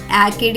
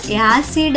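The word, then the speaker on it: acid: మరియు పదం యొక్క ఉచ్చారణ అవుతుంది ఏసిఐడి, యాకిడ్ కాదు. పదం యొక్క ఉచ్చారణ యాసిడ్ అవుతుంది.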